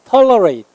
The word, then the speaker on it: tolerate: tolerate과 강세 이름절이에요. tolerate 얘는 endure 강세 이음절에 있어요.